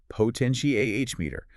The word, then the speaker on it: potentiometer: class materials, the potentiometer. And that one has a different stress pattern entirely. Poteni is ah potenti ah meter. Ah, the stress shifts to the ah.